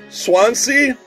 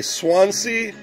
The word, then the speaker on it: Swansea: of swans well how do you say that Swansea SWA NS ta Swansea Wales so there you go yeah rebranded as